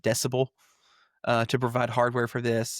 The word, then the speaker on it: DCBEL: Um, Volvo and Polestar are partnering with a company called, quote, DCBEL, which I presume is supposed to be pronounced decibel, to provide hardware for this.